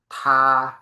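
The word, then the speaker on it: 他: นี้ เธอ อา เป็น ทา นะ ครับ เธอ อา ทา ออก เสียง ว่า ทา แปล ว่า เขา นะ ครับ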